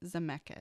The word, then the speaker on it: Zemeckis: Luke Evans is coming in as a new character called the Coachman, and it's directed by Robert Zemeckis. Is that right? Yeah. Okay. I don't know how to pronounce his name.